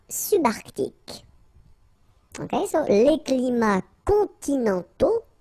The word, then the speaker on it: continentaux: Okay, so les climats continentaux, remember, final X not pronounced, and then this A-U together, they give you the sound O, okay?